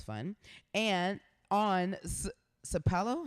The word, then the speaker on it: Sapelo: Island writers retreat that sounds fun and on sapelo how do you say that Sapelo Island Georgia